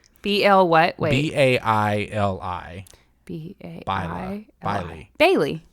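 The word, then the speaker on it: Baili: And then my next one is from Bailey, B-A-I-L-I. B-L what? Wait. B-A-I-L-I. B-A-I-L-I. Bailey.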